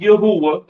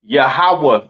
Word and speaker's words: Yahawah: it's not Yahweh uh it's not Yahweh right it is pronounced yahawah in the Hebrew all right yahawah in